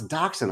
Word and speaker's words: dachshund: Oh, that's how you pronounce dachshund.